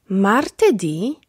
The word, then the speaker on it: martedì: Martedì – wtorek. Mercoledì – środa. Giovedì – czwartek. Venerdì – piątek. Sabato – sobota. Domenica – niedziela. W słowach od poniedziałku do piątku akcent pada na ostatnią sylabę.